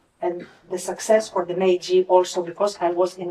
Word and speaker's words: Meiji: middle of that, I received an invitation from Meiji University, and I know I pronounced that correctly because I checked with wonderful Naoko. It's Meiji University in Tokyo, and to apply to go